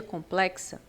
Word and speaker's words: complexa: a complexa esse x quando você pronuncia complexa o X Ele tem som de KS É como se você